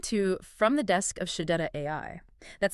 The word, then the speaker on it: Shechet: Welcome to From the Desk of Shadetta AI. That's spelled S H E C H E T AI.